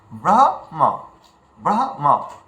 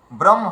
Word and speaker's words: ব্রহ্ম: কিন্তু একদম ভুল। যেমনভাবে আছে সংস্কৃত যেমন ভাবে আছে তেমনভাবে উচ্চারণ করো। ব্রহ ম্রহ এভাবে যেন উচ্চারণ করি। ব্রহ্ম হ যেন এমন উচ্চারণ না করি। ব্রহ্ম যেন না বলি ব্রহ্ম